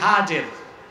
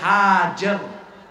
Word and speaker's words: হাজের: করলেন ইব্রাহিম এবার তুমি তোমার স্ত্রী হাজের যাকে আমরা বলি হাজেরা হাদিস শরীফে তার নাম এসেছে হাজের কি নাম আমরা বলি সমস্যা নাই শুদ্ধ উচ্চারণটা কি হযরত হাজের আর তার ছেলে হযরত ইসমাইল